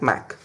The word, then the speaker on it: MAC: LC and MSE right this I may see is pronounced as math so what happens the data link layer in the I Triple E standard is divided into two sub layers LLC and Mac now what happens in